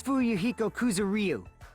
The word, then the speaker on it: Fuyuhiko Kuzuryu: Will you please say your name so I know how to pronounce it? Name's Fuyuhiko Kuzuryu.